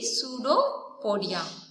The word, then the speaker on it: pseudopodia: Pseudopodia, here P is silent, right? So you need to tell only pseudopodia.